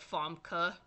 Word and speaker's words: Famke: The original Jean Grey, played by Famke Janssen, however the hell you say that, which I know it's spelled Famke, but it's said like Famke, because she's foreign, but whatever.